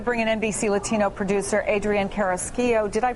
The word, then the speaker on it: Carrasquillo: I want to bring in NBC Latino producer Adrian Carrasquillo. Did I pronounce that right?